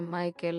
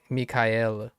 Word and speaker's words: Michael: La música de Michael es mi favorita. Yeah, Michael. I was putting the accent on the last one, which is not right. I'm thinking of Michael. The Michael. Not Michael.